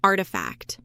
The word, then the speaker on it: RTFKT: But perhaps the most interesting acquisition was also in 2021 when Nike bought RTFKT, pronounced Artifact, a company known for creating virtual products and experiences using augmented reality, blockchain authentication, NFTs, and game engines.